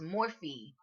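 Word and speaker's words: Morphe: order for um is morphy or morph I think it's morph as in to morph to change to transform but it's spelled m o are pH so I don't know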